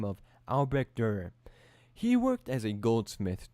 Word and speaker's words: Albrecht Dürer: As told by Og Mandino, there lived in a tiny village near Nuremberg, Germany, a man by the name of Albrecht Dürer.